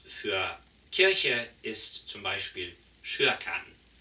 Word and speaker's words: Kyrkan: Das schwedische Wort für Kirche ist zum Beispiel Kyrkan. Zwar mit K geschrieben, aber mit Sch ausgesprochen.